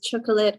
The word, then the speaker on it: chocolate: read the chat, but Christian asked why chocolate was 2 syllables when it sounded like 3. Check the dictionary. I didn't see the question. Christian, check the dictionary and you will find the answer. It's chocolate. Listen to me. Chocolate.